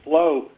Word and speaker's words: Phlow: We were emailing Flo out of Richmond, thanks to Peter Navarro's insight. It's gotten a big grant to manufacture quickly and efficiently, and Flo is spelled PHLOW in the Richmond area, and